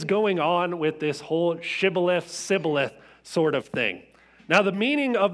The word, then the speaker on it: shibboleth: they're pronouncing it different they couldn't say shibboleth they were saying sibileth right but it's worth